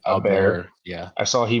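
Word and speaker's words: Åberg: Uh, Aberg, Aberg. I saw Ludvig. It looks like Aberg, yeah, Aberg, but it's like Aberg.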